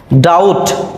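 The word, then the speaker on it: doubt: এরপরে বি এর পরে যদি টি থাকে, টি, বিটি, সেক্ষেত্রেও আমরা বি এর উচ্চারণ করব না।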